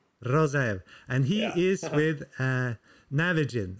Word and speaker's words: Rozaev: Rozaev. Rozaev.